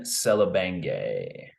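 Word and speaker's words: Selebangue: I think has French background, or at least French Canadian, but it's pronounced Brian Selebenge.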